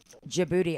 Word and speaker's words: Djibouti: Djibouti. I would have never guessed that's how you would, but I guess, yeah. The DJ. The DJ. The D is silent.